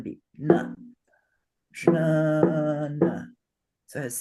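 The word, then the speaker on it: ज्ञान: Yeah, Jnana. perfect. The first A is long, so it gets 2 beats. Jnana. No. Second one is short, gets 1 beat. Na. Jnana.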